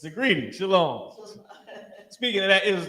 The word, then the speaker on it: Shalom: Shalom is sha law connected law ma with ma at the end uh singular right it's just the it's just the ma is not pronounced heavily because of how you